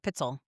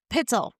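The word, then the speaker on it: Pitezel: Pel, I would have butchered it and said Pitell. Pitzell.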